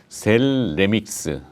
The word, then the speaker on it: 셀레믹스: 친구 상장 된거예요 sl 은 아니고 셀레 빅스 발음 여러분 셀레 믹스 신금 2a 동 광랜 얼이 좀 관심을 많이